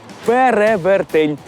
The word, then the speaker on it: перевертень: Із цих двох варіантів правильний тільки один. І це перевертень. Наголос на другий склад. А перевертень, якщо забули, - це міфічна істота, яка здатна переутілюватися. Перевертень. Перевер. Перевертень. Перевертень. Я зазвичай говорю перевертень. І правильно говорите. У цьому слові наголошуємо другий звук е- перевертень.